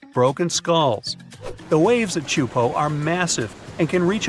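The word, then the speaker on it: Teahupo'o: all the name itself is a mouthful is pronounced chupo and it means broken skulls in tahan yeah you heard that right broken skulls the waves at chupo are massive and can reach up to 23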